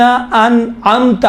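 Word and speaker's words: أنعمت: صراط الذین انعمت علیہم، دیکھیں یہاں امام فرماتے ہیں انعمت علیہم، ان میں حمزے ہیں، انعمت میں عین ہے. عین اور حمزے کا تلفظ میں باید فرق ہونا چاہیے. اہدنا الصراط المستقیم صراط الذین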